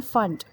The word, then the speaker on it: Pfund: So Lyman, Balmer, Paschen, Brackett and Pfund. P Pfund. So P is silent over here, so we call it Pfund only.